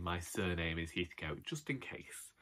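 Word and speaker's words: Heathcote: heathco just in case that's the pronunciation for me other people call themselves julia stevenson plays catherine heathcut in a adaptation of a velma dermond novel and it haunts me her pronunciation of that but we're eth coats and we're not commenting but we're not common enough we are common we're plenty common we're too common to pronounce it any other way someone has a lottery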